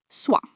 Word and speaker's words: soit: One of its fixed uses is repetition between two possibilities, soit this, soit that, means either this or that, and it is pronounced soit.